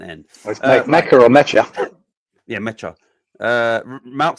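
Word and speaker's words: Nmecha: N Mecca. That's how you pronounce it. So it is N Mecca.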